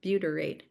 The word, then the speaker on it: butyrate: Butyerate. U T Y R A T E. Buteryate. Butery. There we go. Okay. I was trying to add an extra syllable in there.